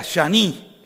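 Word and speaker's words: שני: O sea, shani, con A. Pero como el hebreo no tiene vocales, y las vocales son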